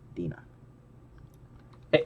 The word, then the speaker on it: Dinah: Dina. Hey, how do you pronounce your name, John? How do you pronounce What? her name? Is it Dina or Diana? How do you pronounce her name? Dinah.